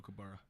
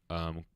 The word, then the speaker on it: kookaburra: Kookaburra? Kukabrow, I believe.